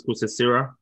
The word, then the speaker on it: Kosasira: My name is Moses Kusesira, and I'm the CEO of SMG.